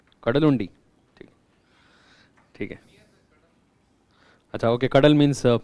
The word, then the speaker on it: Kadalundi: How is it pronounced? Kadalundi.